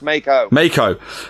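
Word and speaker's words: Meiko: Miko No, you did say it right, and then you corrected yourself. It's Mako.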